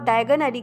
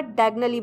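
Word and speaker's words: Diagon Alley: में चले जाने से उसने गलत प्रोनाउंस कर दिया था और डायगन एली की जगह डायगनली बोल दिया था और नॉक्टन एली पहुंच गया था।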